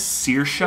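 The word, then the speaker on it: Saoirse: much yeah very famous very talented actress yes searsha i love her sirisha she says it's uh cersei that just depends on like regions i would say searsha but she says cersei when i first read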